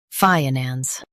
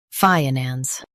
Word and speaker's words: finance: shown on the screen, finance. Both US and UK have the same pronunciation of this word, finance. Now read the syllables shown on the screen naturally. Fi-nance, finance. Emphasize FYE and keep nans light.